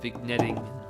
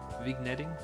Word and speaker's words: vignetting: Usually, a game-winning shot looks like this, with beautiful slow-mo chalk dust, and vignetting, and Is there a hard G in vignetting? Yeah. No, it's vignetting. Vignetting, dark corners, whatever.